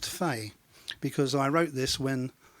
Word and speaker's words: Fee: not a song and it's spelled F EE but it's not pronounced fee it's pronounced tu fais because I wrote this